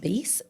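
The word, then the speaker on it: Béis: I think it's pronounced Beis, Beis.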